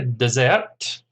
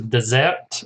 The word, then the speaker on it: dessert: what's the pronunciation there of course the dessert as opposed to Desert which is the Sahara or the Kalahari or the Gobi or whatever I find